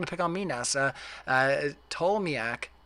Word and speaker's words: Ptolemy: Ptolemy, the P is silent, genius.